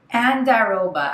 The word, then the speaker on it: andiroba: Andiroba. I literally looked up online how to pronounce that word.